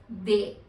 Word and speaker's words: des: indefinite article, which is they. They. They. They means some. DES is the word and THEY you can write it down as the pronunciation.